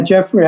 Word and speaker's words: Geoffrey: It has an unusual spelling, so I wasn't sure if that was the pronunciation or not. It's Jeffrey.